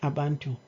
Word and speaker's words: abantu: get the word from is it not abantu that he failed to pronounce and said Bandu instead of abantu we can see that